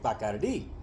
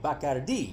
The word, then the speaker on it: Bacardi: I could never drink Bacardi." Only she said it correctly, Bacardi, not Bacardi, like people in the States do.